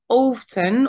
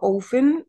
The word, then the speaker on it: often: usually do this thing often or often they can it can be pronounced in both ways often often relevant is